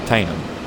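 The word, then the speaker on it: Teynham: Is this Tainham? Tenham? How do you pronounce this one? Tainham.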